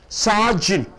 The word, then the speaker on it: sergeant: Sergeant. Where do you stress? Sar, you are stressing. 2 syllables are there. Sergeant. Sergeant. You don't say sergeant.